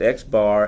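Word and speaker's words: x̄: the notation bother you an X with the horizontal line above it it's pronounced X bar and it's the mean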